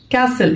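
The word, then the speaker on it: castle: رين رين قلعه كاسل كاسل التي هنا سايلنت اكتبها بس مش انطقها قلعه كاسل مدير مرر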